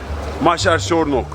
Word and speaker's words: Nagy Vásárcsarnok: Merkez Ali, Maşer Şornok diye telaffuz ediyorlar.